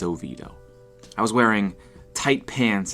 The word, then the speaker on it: Oviedo: away in a town called oviedo it's usually pronounced wrong like oviedo or oviedo but it's oviedo i was wearing tight pants and my hair